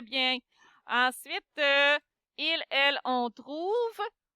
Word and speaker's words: trouve: Ensuite, il, elle, on trouve. On sait que c'est le verbe trouver. On ne va pas prononcer le E.